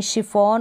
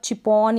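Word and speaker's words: chiffon: कई स्पेलिंग्स होती है वहाँ पर हम CH को श पढ़ते हैं, जैसे कि शेफ में, शिफॉन और मशीन पे। अब यहाँ पर आप चैफ और चिपॉन या मशीन ऐसे नहीं पढ़ सकते, यहाँ पर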